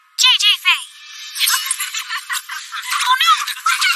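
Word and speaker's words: 姐姐: Jie-jie. Jie-jie Faye.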